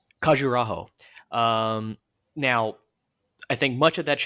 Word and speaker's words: Khajuraho: Um, make sure I pronounce it correctly. Khajuraho.